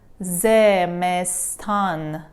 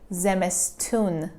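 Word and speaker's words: زمستان: Zemestan, zemestan, zemestan, zemestan. Zemestan, actually, it's reality, we say zemestun, zemestun, zemestun.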